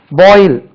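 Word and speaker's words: boil: பிளஸ்சிங் right ஆசீர்வதிப்பது right ஆசீர்வதி என்று சொல்றோம் ரைட் பாயில் கொதிக்க வை பாயில் இதை பாருங்க பி ஓ ஐ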